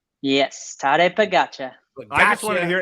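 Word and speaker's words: Tadej Pogačar: on it I am too how do you pronounce that again tare pagacha yes tare pagacha I just want to hear a be on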